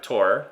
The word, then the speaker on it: Tours: See if it goes for Tours. Or Tor, if I'm using the French pronunciation.